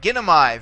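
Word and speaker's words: γίνομαι: All right, in this case, the AI ending here is going to be short for purposes of accentuation. Okay, this is one of the short diphthongs. No, gi. So you got three syllables here. 1, 2, 3 back. This is where we'd accentuate it.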